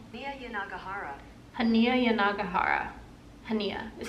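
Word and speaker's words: Hanya: want to look it up so I'm not pronouncing it wrong yagara hania yagara hania is how you say her first name I've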